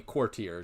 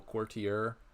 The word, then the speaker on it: courtier: I'm definitely courtier, just like 2 syllables. Yeah. Maybe you get like a 3-syllable courtier.